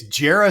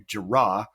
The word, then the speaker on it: Jerah: week it's uh it's Jara seagull and uh we we like discussing how to pronounce his name because I first called you JRA um and then we